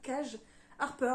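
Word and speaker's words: Kaje Harper: Et pour finir, j'ai lu également le troisième et dernier tome de Se Reconstruire, donc Ensemble pour toujours de Cage, apparemment on prononce ça Cage Harper, donc chez Bookmark, donc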